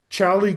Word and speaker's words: Xali: Chalie Gold um is a it's spelled X A L I. The Mexican way of saying it, which is where I am, is Chali.